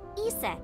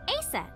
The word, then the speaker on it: Isis: mom is named isis but in ancient egyptian it's pronounced closer to isa or asa hmm how do i